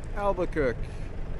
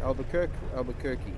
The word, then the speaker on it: Albuquerque: And then our newer Jody in New Mexico is from Albuquerque. How do we pronounce that? Albuquerque.